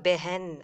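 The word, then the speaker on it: बहन: இந்த வார்த்தைகள் வரும்போதெல்லாம் பெஹன் மெஹல் மெஹெக் அது எல்லாமே நம்ம இந்த மாதிரி தான் நம்ம உச்சரிப்போம். ஸோ பெஹன் அப்படின்னு உச்சரிக்கணும் அதை.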